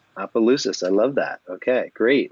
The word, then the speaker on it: Opelousas: Monica parish in Houston and he's originally from Louisiana Duras how do you say your hometown in Louisiana is pronounced Opelousas Opelousas I love that okay great welcome and last